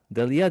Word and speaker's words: D'Alie: Delia, did I pronounce it right? I think I botched it. Yes.